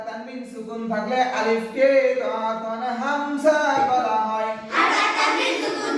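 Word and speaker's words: همزة: সুকুন থাকলে আলিফকে কখন হামজা বলা হয় হারকাত তানবিন সুকুন থাকলে আলিফকে কখন হামজা বলা হয় হামজা উচ্চারণ কেমন হবে হামজা উচ্চারণ কেমন হবে হামজা হলকের শুরু হতে শক্তভাবে আদায় হবে হামজা হলকের শুরু হতে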